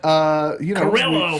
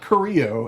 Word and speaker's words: Carrillo: So we didn't get to see much of Humberto, but Carrillo for some reason. Yeah, not Carrillo as it would be pronounced, but apparently Carrillo.